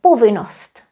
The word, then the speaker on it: povinnost: Here, curiously, we still write double N. We do not pronounce them anymore. We just say povinnost.